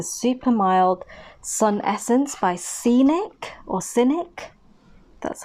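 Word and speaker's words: Scinic: which is a super mild Sun Essence by Scenic or cynic that's how you pronounce it cynic enjoy super mild Sun Essence so this is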